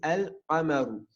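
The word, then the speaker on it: القمر: Le lem, ici, on va le prononcer. On dira al-qamaru. Donc le qaf, il fait partie des lettres lunaires. Donc le lem, on va le prononcer. On dit al-qamaru.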